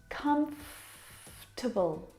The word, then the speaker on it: comfortable: don't need to pronounce come table not comfortable or comfortable but come - bull come - bull you skip that vowel sound comfortable you look very